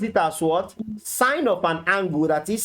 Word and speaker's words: sine: n are you getting it now we Now Pronounce it as what sign of an angle that is sine Theta what's